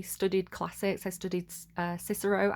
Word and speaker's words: Cicero: I call him Kikaro cuz there was no soft sea in ancient in ancient Latin which I studied classical Latin. Um, Kiko and Quesar is the way I would pronounce those words, but I'm probably doing it wrong.